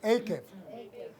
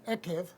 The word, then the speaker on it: Eikev: Diga conmigo, Akev. Algunos pronuncian Evev, pero también se dice Eev.